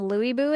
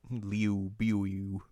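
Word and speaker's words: Lü Bu: But like it's it's like a combination of the E and oo sound somehow. Leu Leu, which is different than than Louie. Leu buu.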